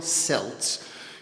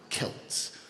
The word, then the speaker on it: Celts: You don't call them Celts, you call them Celts, with a hard C.